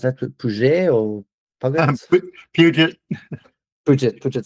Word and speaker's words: Puget: So unless it like so, I don't know how you pronounce that. Puget or Puget? Puget.